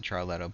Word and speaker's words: Ciarletto: That's spelled Ciarletto. That was a piece of feedback I got back that no, I pronounce it Charletto, but there's no H. It's a CI.